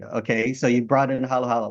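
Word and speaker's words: halo-halo: Of course, some people in my Western world call it halo halo because of the way it's spelled, but it's halo halo.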